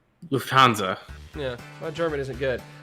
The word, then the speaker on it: Lufthansa: All right, as if flying first class wasn't fancy enough already, German airline Lufthansa now offers VIPs a specialty tray for their blank.